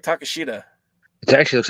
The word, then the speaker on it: Takeshita: Takeshita? Yes. Say it again. Takeshita. Why does it look like Takeshita?